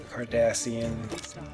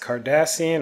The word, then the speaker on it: Cardassian: even pronouncing it right it's pronounced cardassian or kardashian like kim and kourtney kardashian let me know if